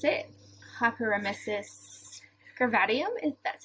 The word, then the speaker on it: hyperemesis gravidarum: So I went there and I was diagnosed with, I can never pronounce it, hyperemesis gravidarum, if that's how you say it? Gravidarum.